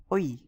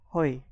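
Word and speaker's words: hoy: letter so for example h o y is oi it's not hoi it is o y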